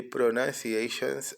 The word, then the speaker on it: pronunciation: O, N de N, U com som de A, N de N, C de C, I de I, o A com som de Ei, o T o N com son de Shan.